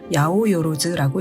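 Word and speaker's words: 八百万: 800만이라고 쓰고 야오요로즈라고 읽습니다.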